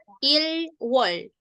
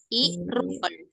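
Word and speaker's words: 일월: Ilwol. Dibacanya Irwal. Irwol. Irwal. Irwol. Realnya masuk ke wol.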